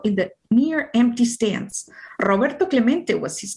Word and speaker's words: Roberto Clemente: Robert, let's see, to Clement. It echoed in the near empty stands. Roberto Clemente was his name, and this is pronounced Roberto Clemente.